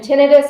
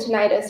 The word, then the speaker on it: tinnitus: I forgot to mention tinitus and tenius are both correct pronunciations I say idus both